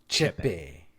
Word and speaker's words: Chepe: Chepe. Chepe Mariscal defeated Jack Jenkins by TKO via arm injury.